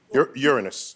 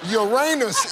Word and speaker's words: Uranus: Uranus, I think, is how we pronounce it. No, Uranus is the thing in the middle.